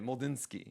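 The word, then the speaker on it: Mlodzinski: but not now uh mulinski yes ml MLL d z i NSK Ki just in case you don't know what that pronunciation is uh Joey Estus four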